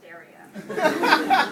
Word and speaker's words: Daria: I know 5 letters can be overwhelming, but it's pronounced Daria.